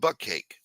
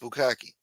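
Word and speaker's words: bukkake: I used to call it butt cake. It's pronounced Bukaki.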